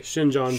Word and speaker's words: Xinjiang: wolfenites from shin you're going to have to pronounce that for me what's the uh xinjiang okay shinjong province xinjiang province because i knew i was